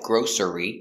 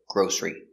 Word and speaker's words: grocery: next we have grocery it looks like grocery but it's not three it's pronounced with two syllables grocery one grocery two groceries